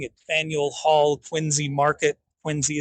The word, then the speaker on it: Quincy: Quincy is how they say it.